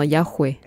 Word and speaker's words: Yahweh: devient ceci est l'histoire du H dans yahooé car avec les voyelles il est presque silencieux mais si vous